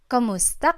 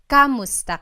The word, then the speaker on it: kumusta: you in Tagalog, it's Kumusta ka? Kumusta ka? So it's spelled K-U-M, kumusta ka. But sometimes you might hear some people say kamusta ka, like it's a K-A sound.